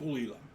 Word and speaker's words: Caol Ila: So we used to have a Caol, is that how you pronounce it? Gulila.